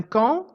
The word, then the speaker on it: camp: dans le mot éléphant un camp est un mot de la même famille que le mot le campeur dans lequel j'entends le P qui est mué dans un camp un tapis est un